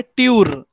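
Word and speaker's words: Tür: तो इसके लिए नाम भी टूर नहीं है, क्या है, ट्यूर. देखो प्रोनाउंसिएशन कैसे चेंज होता है, राइट. डी टूर है क्या, नहीं है, वो क्या है, ट्यूर ही है, ट्यूर.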